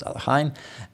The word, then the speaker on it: Alekhine: At the age of 12, he drew against the world champion Alexander Alekhine, sometimes pronounced Alekhine, and was later used